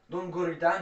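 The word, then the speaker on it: Don Guritan: Don Goritan, la prononciation Don Goritan.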